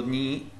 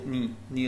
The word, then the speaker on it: knee: You have your knee, key silent, as you know, key before N is silent, it's called knee اللي هي ركبة.